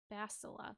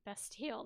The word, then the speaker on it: Bastila: Bastila, that's her name. I gotta remember how to say it because I keep wanting to say it like Bastille. That's what I keep wanting to call her.